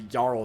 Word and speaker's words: Earl: The Jarl of Death is what his name is. Well, it's spelled E-A-R-L, which is like Earl, but the real way you're supposed to say that is like Jarl, essentially.